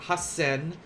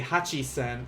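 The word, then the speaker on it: 八千: Especially if you typed like hasen, like this, but you say hachisen, then that would be kind of a wrong thing.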